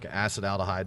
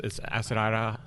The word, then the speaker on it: acetaldehyde: There's 2 ways to pronounce it. It's acetaldehyde. Sorry, I can't say it. See? Okay. Right. I say it acetaldehyde. Okay. But yeah, either way is fine.